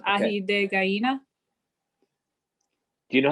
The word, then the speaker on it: ají de gallina: ají de gallina. Do you know how to spell that?